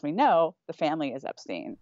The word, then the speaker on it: Epstein: find him talking about how it's Epstein not Epstein but again he also says that Brian changed the pronunciation of his name so again if